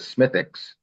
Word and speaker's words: Smithwick's: Irish will have, it's spelled Smithwick's, but they pronounce it Smithwick's.